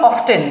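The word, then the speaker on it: often: always always generally অফেন তোমরা অফেন বা অফটেন দুটই উচ্চারণ করতে পারো ইউজলি রেগুলারলি অকেশনালি তারপরে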